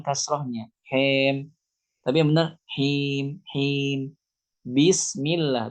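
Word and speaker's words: بسم الله: Bismillah, bukan bes. Salah. Itu karena kita tidak menyempurnakan kasrohnya.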